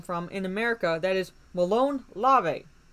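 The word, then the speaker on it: molon labe: in america that is malone larvae malone lava m-o-l-o-n-l-a-b-e looks like lob-a but it's pronounced larvae technically it means come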